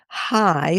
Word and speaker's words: chai: So hi, C H AI. Sometimes pronounced, you're getting that more of a throaty kind of like you can either say Hanukkah or you can say Hanukkah.